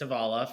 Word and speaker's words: Tovala: did you come up with it so it's tavala for all the listeners out there uh uh